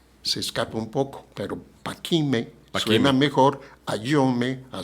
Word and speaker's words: Paquimé: Chihuahua un estudio sobre Paquime, no Paquimé, Paquime. Paquime, porque es la forma en que más se asemeja a la lengua yuto-azteca y a la lengua, a la misma rarámuri.